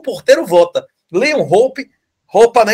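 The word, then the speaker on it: Hoppe: Roupa, não é isso? Roupa que se pronuncia corretamente em alemão.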